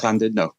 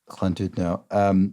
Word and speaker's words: Llandudno: And one of them is Llandudno, which I'm sure I'm not pronouncing brilliantly, but You are. It's Llandudno. Llandudno.